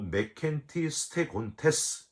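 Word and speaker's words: μηκέτι στέγοντες: 여러분 여기 이 참다 못하여는 헬라어로 메켄티 스테곤테스 이렇게 발음을 하는데요.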